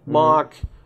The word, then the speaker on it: Moq: sorry package got it most people call it mock you moq mock there's some debate as to